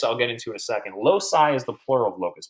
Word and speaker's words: loci: did you just say loci Maxwell come on how dare you Maxwell loci you kidding me Oh Raymond's and training you're saying loci oh come on now come on now it's pronounced low sigh okay load sighs so